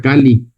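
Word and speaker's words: calli: Y se pronuncia Cali.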